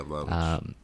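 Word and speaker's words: Vlahović: I mean, the thing is like, realistically, besides, you said, Vlahovic, is that how you say his name? Yeah, Vlahovic.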